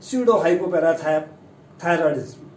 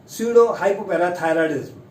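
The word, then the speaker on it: pseudohypoparathyroidism: ये है स्यूडो हाइपोपैराथायरॉयडिज्म। स्यूडो हाइपोपैराथायरॉयडिज्म ये बीमारी है, स्यूडो हाइपोपैराथायरॉयडिज्म।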